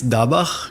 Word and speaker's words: Dabah: Actually, it's Dabah, if we have to say it in Hebrew.